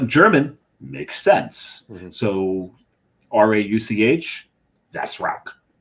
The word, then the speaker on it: Rauch: So R-A-U-C-H, that's Rauch. There's a little airy component in the Rauch.